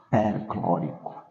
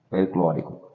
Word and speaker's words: perclórico: ico e Como disse sempre que termina em Ico a sílaba que antecede o i deve ser deve ter acento agudo Portanto o nome de já será ácido perclórico perclórico Então como podemos perceber